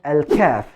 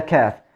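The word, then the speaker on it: ك: which are alkav and el cav actually the cough is deeper than the cat so we are using the cough with the deepest part of the tongue with the soft palate from the roof of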